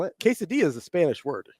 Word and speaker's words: quesadilla: that give you like the Double L and it's pronounced like a y I thought it was